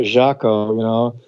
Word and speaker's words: Jaco: He pronounced the J as a soft J. Anyway, Mm-hmm. that cat Jaco, everyone wants to be